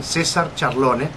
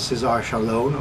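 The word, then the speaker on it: César Charlone: My name is, I'll say it in Spanish pronunciation, Cesar Charlone, which you would know here as Cesar Charlone or something like that.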